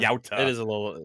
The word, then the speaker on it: Yautja: He also keeps Yeah, pronouncing still, Yautja wrong, and it's annoying the shit out of me. yeah. Yautja.